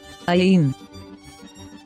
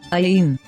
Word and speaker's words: ayin: ayin, ayin, ayin. Is a silent letter.